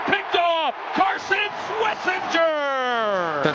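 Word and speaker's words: Schwesinger: It is Swissinger for whatever reason cuz I know somebody who's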